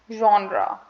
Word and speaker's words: genre: pronouncing it wrong because the correct pronunciation the word is somewhat very different from how it is read um we pronounce it as genre genre so um all right